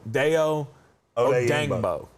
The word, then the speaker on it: Odeyingbo: Yeah, take the Y out because it's Odeyingbo.